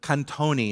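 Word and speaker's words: קטנתי: All right, but kantoni is how you pronounce it.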